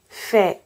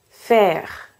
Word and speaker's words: faire: Première règle de base, on ne prononce pas les E à la fin des mots.